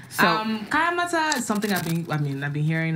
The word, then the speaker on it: Kayamata: Oh, Kayamata? Yes, I always say Kayamatan, and there's no N at the end, right? There's no N, girl. Okay, all right. There's no N. So, Kayamata is something I've been